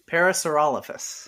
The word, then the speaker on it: Parasaurolophus: Parasaurolophus.